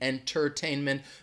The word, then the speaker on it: entertainment: And I think it is good to pronounce it completely entertainment, but I would tend to reduce that entertainment.